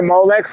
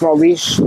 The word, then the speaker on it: Molix: You know, I love the Molix, but you know it's actually pronounced Molish.